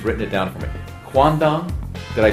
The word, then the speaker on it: quandong: and I she's written it down for me quandong did I say it right I did quandong